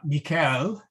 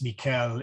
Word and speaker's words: Michael: It's a bit, the CH is like, as in Christ. And then it has this wonderful AE. It's not AE like the diphthong, like femine. It is actually an A and a long A and a long E.